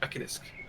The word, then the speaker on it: Mekanisk: I'm just going by how I've heard Norwegian people say it, Mekanisk.